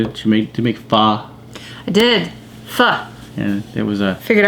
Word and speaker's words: pho: Pho.